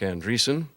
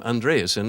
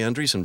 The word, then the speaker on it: Andreessen: upstart named Marc Andreessen I once asked him if his if he pronounced his name Andreasen in linga in the Norwegian manner and he said no I'm from the Midwest we do things simply they're a very telling